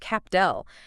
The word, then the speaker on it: Capdell: And then there's Capdel, Kepto. pronounced Capdel.